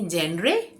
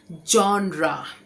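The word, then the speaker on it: genre: लेकिन ये जेंडर नहीं है। इसका मतलब होता है कि शैली या प्रकार। ठीक है? शैली या प्रकार। अब इसको एक्चुअल कैसे कहते हैं? इसको एक्चुअल कहते हैं जॉन्रा।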